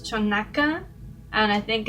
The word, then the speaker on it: Xonaca: I'm not sure if it's pronounced this way, but I think it's Chonaca, and I think it's in Puebla.